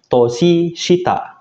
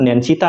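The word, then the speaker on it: 年下: Contoh yang terakhir, ketika kanji tahun ya, yang pertama ini kanji tahun, ditambah kanji bawah shita, dia akan dibaca toshi shita, bukan nen shita nanti ya.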